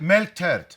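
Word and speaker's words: melktert: Milk tart. Apparently it's pronounced milk tart.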